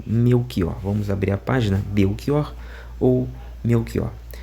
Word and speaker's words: Belchior: eu desconhecia de todo, surpreendeu-me a prolação do nome Beior e não Belchior, como se diz em Portugal e demais países da comunidade eh de língua portuguesa.